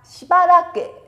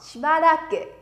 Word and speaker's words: しばらく: Chúng ta sẽ đọc là しばらく. Nè, đơn giản vì nó sang sẻ nó しばらく. しばらく.